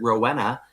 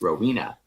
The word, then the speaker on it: Rowena: chose it and uh when people pronounce it Rowena I look at them I'm like no it's Rowena so and I will